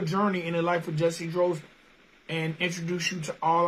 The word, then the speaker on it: Jussy Dros: All right, man, the first thing I got to ask, man, is did I pronounce that name correctly? Because I'm known to tap an artist's name. Yeah, Jussy Dros.